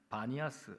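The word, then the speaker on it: بانياس: 그래서 이름이 판 파니아스 파니아스라고 부르고 오늘날에는 바니아스 아랍어로 바니아스라고 왜냐면 아랍 사람들이 피발음을 못 하거든요.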